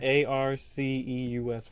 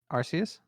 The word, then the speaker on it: Arceus: I don't know Pronounce either. Arceus for me. Pronounce what? Arceus for me. Arceus?